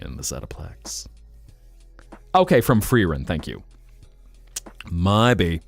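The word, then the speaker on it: Frieren: Because I think Freirun, if it was German, you'd swap the vowels.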